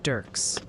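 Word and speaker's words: Dierks: They really want you to know Dirks, Arkansas is pronounced Dirks.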